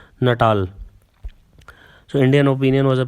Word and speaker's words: Natal: So that is how it is pronounced, Natal.